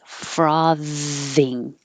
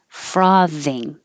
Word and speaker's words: frothing: comparison bizarre bizarre frothing i put the th in italics to remind you that it's voiced so you need the sound frothing frothing shipping and somebody asked